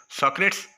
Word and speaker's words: Socrates: इसको इंग्लिश में दो तरह से प्रोनाउंस किया जाता है, आप कोई एक प्रोनाउंसिएशन का एक्सेंट जो है वो यूज़ कर लें, सोक्रेट्स या सोक्रेटिस।